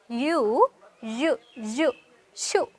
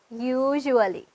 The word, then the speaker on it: usually: මෙතන බලන්න usually කියන එක pronounce කරන විදිය you shoo කියලා නෙමෙයි අපි කියන්නේ usually හරි මෙතන meaning එක වෙන්නේ